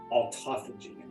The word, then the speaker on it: autophagy: The other one is autophagy, not autophagy, autophagy. A-U-T-O-P-H-A-G-Y. Autophagy. It sounds like autophagy. When you spell it, it's autophagy, but it's autophagy.